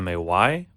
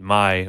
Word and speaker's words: Maj: US you spell it Ma y but in Poland it's Maj and you say it my or you know may